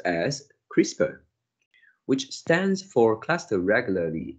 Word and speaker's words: CRISPR: and even insects this is known as crispr pronounced as crispr which stands for cluster regularly interspaced short palindromic